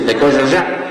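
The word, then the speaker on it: Tekojoja: Uno es el Movimiento Popular Tecoyoyá, se escribe Tecojojá, se dice Tecoyoyá. Claro, en ninguno de los casos se dice como está.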